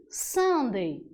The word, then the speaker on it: Sunday: Podemos lembrar do domingo até como aquela sobremesa maravilhosa, não é? Então, quanto à pronúncia, a gente pode até associar, não quanto à escrita, mas quanto à pronúncia. Domingo, Sunday.